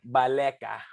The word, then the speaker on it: Baleka: you say about the you know it's uh baleka i wasn't thinking i was even close though